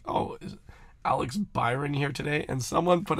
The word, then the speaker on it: Byron: an email 604 park I don't think that beer on is pretentious but switching it is pretentious because you think it sounds better like that's a little that's the way it is no it's pronounced Byron no family I really y or no it